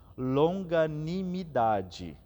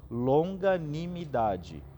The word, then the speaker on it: longanimidade: para vocês é que a gente tem esse essa palavra por pedaços longa anime idade e assim a gente consegue pronunciar a melhor ao menos esse é o exercício que eu faço longanimidade longânimo mim idade só